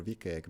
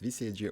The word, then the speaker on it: WCAG: is it so uh its abbreviation has been pronounced in very different ways depends how fluent you are I prefer VK because it's the shortest way but in some cases it's vcg or wcag so basically in the